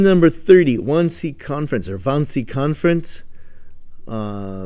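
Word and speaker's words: Wannsee: Term number 30, WC conference or vansy conference. Uh the W's are pronounced like a V in the German language.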